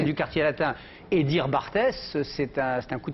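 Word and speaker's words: Barthes: parle de quelqu'un et au lieu de dire Roland Bart vous dites Roland bartes parce que Roland Bart vous l'avez toujours vu écrit et vous savez pas comment ça se prononce et d'un seul coup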